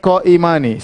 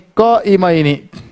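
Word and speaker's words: قائمين: Tidak boleh kita baca kana talibani qaimani. Salah, diketahui dengan orang Arab. Salah. Bacanya kana talibani qaimaini.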